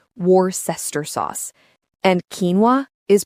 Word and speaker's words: quinoa: And quinoa is pronounced quinoa.